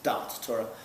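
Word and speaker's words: Daas Torah: It's called Das Torah, and it has to be pronounced with the Yiddish inflection of Das Torah as Dat Torah.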